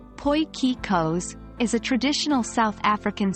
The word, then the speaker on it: potjiekos: so let's get started potjiekos pronounced as poikikos is a traditional South